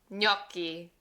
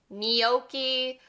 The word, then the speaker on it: gnocchi: Numero 6, gnocchi, gnocchi. It's a really weird sound coming from English. So if you're brand new to learning Italian and you think that this is said like gnocchi or gnocchi, that's not right.